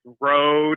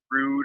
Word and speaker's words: Rode: that guy but it's road it's not rude or where whatever road